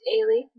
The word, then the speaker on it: Ailey: This is Ailey. Yes. Otherwise known as Spike. Yes, that's how it's said.